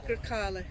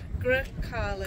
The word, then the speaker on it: Grecale: So I'll try and drop my Yorkshire accent and put my Italian one on for a moment, and it is the Grecale. The what? Grecale. Grecale?